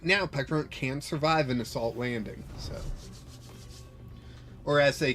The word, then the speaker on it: Assault Landing: Assault landing. The kids at my uh my local league uh when they're playing Fan Roton, they always pronounce it Assault Landon.